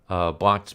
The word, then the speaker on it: Blanqui: even have more fun, Blanc's men show up, and I'm calling him Blanc. His real name is it's General Blanqui. It's Blanque, but just I can't pronounce it for the life of me.